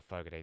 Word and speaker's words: Fogerty: the lead singer of Credence Clearwater Revival, John Fogerty um or Fogerty, that's how you pronounce it.